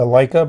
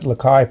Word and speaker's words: Delike: I call it a Leica, but Delike probably is a better pronunciation, so it doesn't sound like the camera.